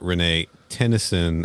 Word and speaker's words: Renee Tenison: Yeah, Renee Tennyson.